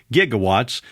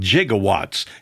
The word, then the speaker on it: gigawatts: And I note to say gigawatts, which is the accepted pronunciation, despite Doc Brown in Back to the Future saying jigawwatts, and a lot of